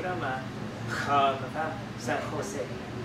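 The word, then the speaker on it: San José: Mình có chữ đó mà khờ mà phải San Jose. Đa số họ đọc là giống như chữ hát là San Jose.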